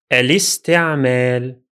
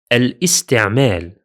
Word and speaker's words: الاستعمال: Therefore, the correct pronunciation will be الاستعمال. الاستعمال. الاستعمال. You shouldn't pronounce the Hamza here, as in الاستعمال. الاستعمال. That's incorrect. Notice something important here.